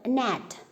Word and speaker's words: gnat: But first word, gnat. So in this word, G is silent.